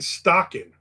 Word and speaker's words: Stocking: Shannon Stocking rhymes with Dockin.